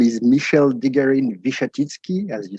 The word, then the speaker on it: Michele de Garine-Wichatitsky: the introduction and you did very well in pronouncing my very complicated name so my name is michelle digarin vishatitsky as you said i'm french but i'm currently